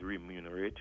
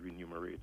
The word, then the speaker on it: remunerate: they significantly remunerate, and the word is remunerate rather than remunerate, as I heard a lot of people saying, is spelled with an R-E-M, remunerate.